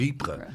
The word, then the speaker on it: Ypres: Was the Wipers Times, was that... That's a good point. Yeah, that wasn't designed for... It wasn't? No, it was just a classic Tommy mispronunciation of Ypres.